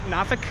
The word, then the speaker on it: Norfolk: Is that Nafk? Uh yeah. The R is kind of only half pronounced.